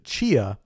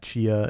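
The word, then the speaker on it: Tchia: culture and people that Chia is based on it's spelled with a t yes yeah t c h i a I played a demo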